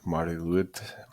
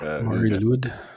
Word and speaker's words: Mari Lwyd: I think I just presume it's Mari Lwyd. Lwyd. Yeah, I think the Y is a U, kind of like the Danish. Mari Lwyd.